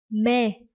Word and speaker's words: mê: Yeah, and this one, that is mê.